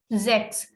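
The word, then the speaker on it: sechs: sex six is called sex s is having z sound okay and this s is having s sound so we say sex okay ch combination has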